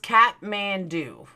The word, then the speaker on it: Kathmandu: It's pronounced Kathmandu, not Kath. Well, I saw Kathmandu. Sorry. Then why is there an extra H? Why don't you just write C-A-T Mandu?